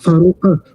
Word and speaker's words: Farouk: Farouk with qaf. It's an Uh, asymmetric letter. Qaf.